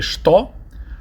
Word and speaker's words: что: So when we say "what" in Russian, it's "что." It's spelled "to," but people say "что."